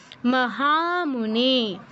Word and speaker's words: महामुने: মহামুনে, মহামুনে, হা নে দুটো দীর্ঘ হবে, মহামুনে।